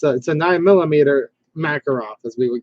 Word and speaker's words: Makarov: fine with that and if you don't know how to pronounce Makarov just pronounce it Makarov cuz yes in Russia they pronounce at a different way but you know what I usually just use the American pronunciations right yeah it looks